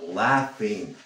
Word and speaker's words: laughing: She threw him out of class for laughing. Laughing. Esa GH se pronuncia como una F.